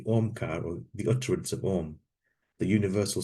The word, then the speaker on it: Om: It comprises 3 sounds, A, U, and M, Om.